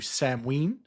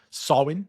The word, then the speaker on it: Samhain: But for those not so knowledgeable here, Halloween traces back to Samhain, or Samhain, I should say. And this word, I had to, again, Samhain.